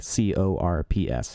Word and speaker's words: Corps: one called Santa corpse-like cor PS not like a dead body so like the Santa I guess would be Santa Corps instead of corpse I guess the P is silent where you play a